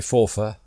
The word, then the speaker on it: Forfar: five and fora yry as we like to pronounce it properly don't we fora fora I wonder what he thinks of FY